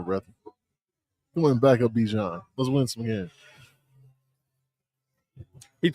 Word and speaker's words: Bijan: Bijan? It's Bajan.